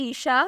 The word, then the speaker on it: Eshaa: नाम है ईशा, स्पेलिंग है ESHAA।